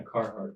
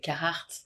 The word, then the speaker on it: Carhartt: How do you pronounce this brand? Carhartt? Yeah, Carhartt. Oh, perfect. What did you say? But in French you say Carhartt.